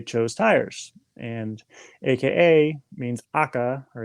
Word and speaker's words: AKA: tires and aka means akka or it's pronounced akka in japanese that means red and kyo shows red